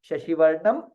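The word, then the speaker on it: शशिवर्णम्: You see a dot there, Anuswara. Shashivarnam Chaturbhujam. So we chant it as Shashivarnam Chaturbhujam.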